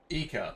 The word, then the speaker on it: Eeka: Do you like it here too, little Eeka? Eeka. That's how we pronounce it.